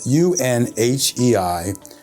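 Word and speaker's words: Unhei: It's a story about a young Korean girl who immigrates to the United States, and her name is spelled U-N-H-E-I and actually pronounced Un-Hei.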